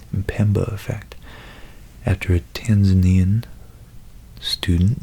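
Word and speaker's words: Mpemba: fact seems counterintuitive but it's called the min pemba effect Pemba effect as an M before the the P that's hard to pronounce my Pemba effect after a Tanzanian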